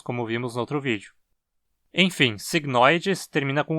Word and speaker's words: cygnoides: cisne signos em latim Tecnicamente a pronúncia correta dessa palavra seria signo idades pois esse e que tá na penúltima sílaba e longo mas é tão absolutamente